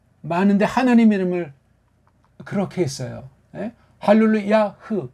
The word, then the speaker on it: 할렐루야: 할렐루야흐 이게 맞을 텐데 할렐루야로 해버린단 말이에요.